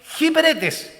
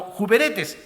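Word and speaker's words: ὑπηρέτης: La palabra griega que se usa ahí es hiperetes, ¿ya? Que algunos la pronuncian como juperetes, que es un esclavo que administra los bienes de su amo.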